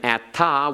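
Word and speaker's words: אתה: And atta without a hey on the end is an alternate spelling, pronounced the same.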